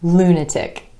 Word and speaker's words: lunatic: We have politics, politics, rhetoric, rhetoric, Arabic, Arabic, and lunatic, lunatic. In each of these examples, the stress falls on the first syllable in the word instead of the syllable right before the ik ending.